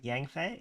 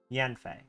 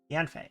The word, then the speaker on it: Yanfei: Yangfei? Yanfei? Yanfei. Not Yangfei. Yanfei.